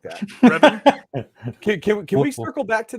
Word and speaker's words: Revan: But you remember during why did you say Ravon? Why did you say it like that? Revan?